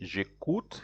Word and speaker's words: j'écoute: So you have to say j'écoute here. J'écoute. It is joined together. You say je as if it is one word.